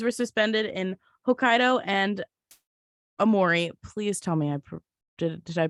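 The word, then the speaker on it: Aomori: Trains were suspended in Hokkaido and Amori. Please tell me did I pronounce that right?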